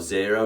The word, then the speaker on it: Xero: We use a lot of Xero, which is spelled Xero, because we think it's particularly visually appealing, but on the downside, it is a little bit more expensive.